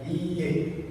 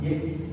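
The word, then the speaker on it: いいえ: Terus ada iye, ya, panjang, i-nya 2, bukan ye, tapi iye.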